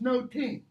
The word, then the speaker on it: nothing: Okay, the pronunciation is noting. The meaning, however, is nothing.